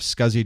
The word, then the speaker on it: SCSI: It's pronounced SCSI.